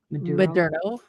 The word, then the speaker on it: Maduro: Maduro.